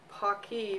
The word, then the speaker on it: Paqui: right here I go trying these Pocky because hockey rhymes with hockey we learned about that on the